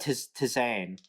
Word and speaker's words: tisane: Tisane.